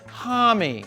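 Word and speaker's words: Homme: lead singer Josh Tommy yes it's pronounced Tommy or from here on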